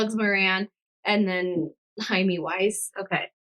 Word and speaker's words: Moran: Moran.